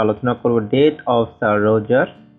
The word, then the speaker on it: Roger: আজকে আমরা আলোচনা করব ডেট অফ স্যার রোজার বা স্যার রোগার। আমরা এখানে স্যার রোজারকে উচ্চারণ করছি কারণ এখানে জিইআর সাধারণত রোজার উচ্চারণ হয় আর জি আপনার এআর রোগার উচ্চারণ হয়।